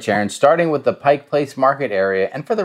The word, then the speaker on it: Pike Place: and for the record make sure you say Pike Place and not Pikes Place Market you you know you might rub some of the locals wrong if you you don't say it right you can literally just